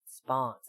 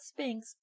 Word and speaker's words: Spawns: Spawns, not Spinks.